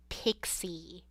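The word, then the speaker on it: Pxqi: Her name's Pixie, but it's spelled P-X-Q-I. Pixie.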